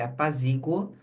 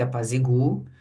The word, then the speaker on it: apaziguo: vocês saberem que tanto faz a sílaba tônica que você vai considerar se apaziguo ou se apaziguo e também saber que que o verbo conjugado assim tem as duas grafias porque tem duas pronúncias.